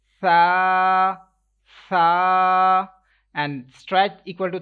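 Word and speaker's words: ث: Ta, read sa letter but without whistle sound, like you can't pronounce this letter sa, that is wrong. You will pronounce this letter, will be pronounced without making whistle sound, sa. Like if you can't pronounce without whistle sound, that means you will have to touch your tongue, front side of your tongue with upper teeth, then this letter will be read perfectly, like without whistle sound.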